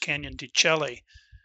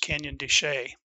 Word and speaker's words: Canyon de Chelly: think that it's pronounced canyon de chelly when in fact that is not the case it is actually pronounced canyon de shay the establishment of a